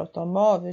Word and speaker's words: automóvel: para você conseguir entender a sílaba mais forte é mó Então ela é a última ou a penúltima olhem aí a gente conta de trás para frente a última se levell e a penúltima é mó Então nesse caso essa palavra aí é paroxítona Ok oh vó é